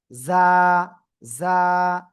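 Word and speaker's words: ز: উচ্চারিত হবে খেয়াল করবেন জিহ্বার আগা সামনের নিচে দুই দাঁতের পেট ও আগার সাথে লাগাবেন। লাগিয়ে জাস্ট এক আলিফ টানিয়া উচ্চারণ করতে হবে। যা জিজি পুকার ন্যায় আপনার আওয়াজটা হবে।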